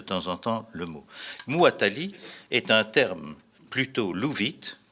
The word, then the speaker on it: Muwatalli: Il est Muwatalli, comme ça se prononce. Hein. Vous écrivez comme ça se prononce, M-U-W-A-T-A-2-L-I.